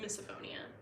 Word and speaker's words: misophonia: all night it's very Anno also I was pronouncing it right misophonia there we go uh oh uh oh I